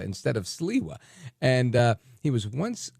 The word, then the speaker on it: Sliwa: And most people don't know how to say Curtis's last name, and it's often mispronounced as Silva instead of Siwa.